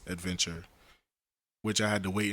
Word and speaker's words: Adventr: ad ve NT our adventure TV so it's pronounced adventure which I had to wait until the person said in the video my way and Advent are yeah so so yeah but you're the first